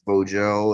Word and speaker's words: Vogel: So that's all I really had for Marcel Vogel. I say Vogel, but I'm pretty sure it's Vogel.